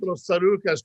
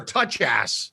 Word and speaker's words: Tsarouchas: I pronounce it Tsarouchas. Tsarouchas. So I think it's Tsarouchas. Or touch ass is when we put it.